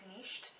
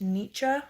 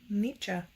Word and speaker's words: Nietzsche: And then I got Beyond Good and Evil by Friedrich Nietzsche, and I think that's how you pronounce it. So that is not how you pronounce it. I just looked it up. It's pronounced Nietzsche, apparently, according to this video.